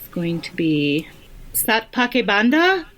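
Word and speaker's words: Saat Paake Bandha: For me, I think it's going to be Satpake Banda. How do you pronounce that? Shatpake Banda.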